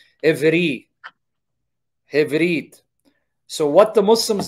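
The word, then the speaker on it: עברי: It's pronounced Evri.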